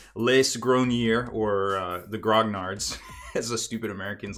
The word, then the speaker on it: grognards: of hobbyists calling themselves grog nards this is where it all comes from it's actually French and I hope I pronounced it mostly okay ish so we're gonna take